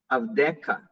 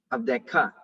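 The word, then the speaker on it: עַבְדְּךָ: So yeah, and the rest you have to accent your voice in at the last syllable. Okay. All right. So ozen avdeka. All right. Avdeka.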